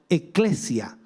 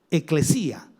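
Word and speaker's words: ἐκκλησία: De hecho, en griego la palabra iglesia se traduce como eclesia o eclesía, con un acento en la i, eclesía.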